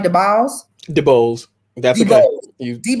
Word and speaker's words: DeBose: DeBose.